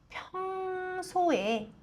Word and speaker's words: 평소에: 激音は声を高くして息を出して発音するのがポイントです。평소에 지하철로、지하철 でも 전철